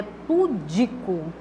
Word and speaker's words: pudico: formal da linguagem né a sílaba que deve ser pronunciada de forma mais vidente mas é vidência né é a segunda tá eu é pudico e não da forma como